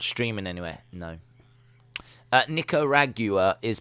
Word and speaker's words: Nicaragua: archery as it's not streaming anywhere no uh nicaragua is pronounced nick uh nico ra nicaragua nicaragua that's how you pronounce it nicaragua i was pronouncing it nicaragua nicaragua nicaragua nicaragua